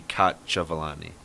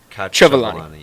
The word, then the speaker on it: Cacciavalli: So it would be Cacciavalli. You would kind of hold on that C. Cacciavalli. You kind of hold on that C a little bit longer.